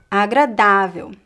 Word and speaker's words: agradável: But if we do have a graphic accent somewhere else in the word, then the stress shifts to that syllable. For example, agradável.